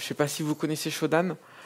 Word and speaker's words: Shodan: il suffit d'aller faire un petit tour sur shodan je sais pas si vous connaissez show dame shodan c'est ça s'écrit s h au dea m et en